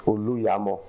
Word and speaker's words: Oluyemo: The pronunciation is Oluyemo.